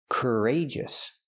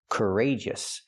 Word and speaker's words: courageous: Courageous. We see the stress on the second syllable, rage.